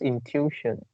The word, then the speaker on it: intuition: you pronounce intuition, Okay. and I see there's a script here, so it's something like intuition. Is Intuition. it? Yeah. And the stress should be in the middle.